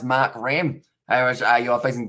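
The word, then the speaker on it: Markram: and please spit uh split makram uh pronounced mark ram irish i you are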